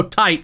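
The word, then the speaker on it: Tite Kubo: is derived from kubo kubo tight because he likes it to be pronounced tight kubo tite's favorite album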